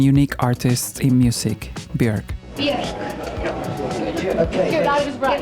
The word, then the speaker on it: Björk: Björk. Okay. It rhymes with Björk.